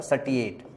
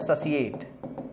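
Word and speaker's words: satiate: इसको कैसे पढ़ा था, सैटिएट, ठीक है ना। लेकिन इसका जो करेक्ट प्रोनाउंसिएशन होता है वो होता है ससिएट। ससिएट मतलब ये टी नहीं पढ़ा जाता, सी पढ़ा जाता है।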